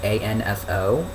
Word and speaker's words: Anso: It's spelled A-N-S-O. I believe that's how you say that, Anso.